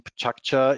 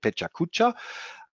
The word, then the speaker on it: Pecha Kucha: So I was told this is the Japanese pronunciation, Pecha Kucha. If you don't know how to pronounce it, many people call it Pecha Kucha.